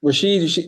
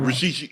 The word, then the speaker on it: Rashid: Rashid. No. Rashid.